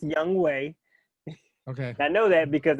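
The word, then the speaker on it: Younghoe: a really solid uh i'm gonna go with young hulk now first of all his name is young weiku it's pronounced young way okay i know that because every time he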